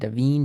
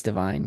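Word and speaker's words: Da'Vine: America Ferrera for Barbie, Jodie Foster for Nyad, and Davine Joy Randolph for The Holdovers.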